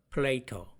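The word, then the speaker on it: Plato: 모든 것에 있어서 핵심은 플레이토. 영어로는 플레이토라고 읽고 우리나라 말로는 플라톤이라고 하죠.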